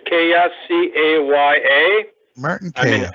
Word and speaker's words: Kaya: It's how do you pronounce the last name? It's Kaya, C-A-Y-A.